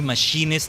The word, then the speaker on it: machinist: Machinist. I almost want to say that's how I pronounced it at first, I think. But I realized, oh, no, no, it's more like machine rather than machina or mination.